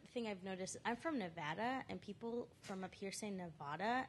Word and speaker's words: Nevada: in a certain way I'm from Nevada I know it's pronounced Nevada I also speak Spanish so don't try to be Spanish when you say Nevada because that's not even how you pronounce it but it how